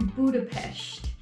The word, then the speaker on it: Budapest: We're actually getting a bus to Budapest. Apparently that's how you say it.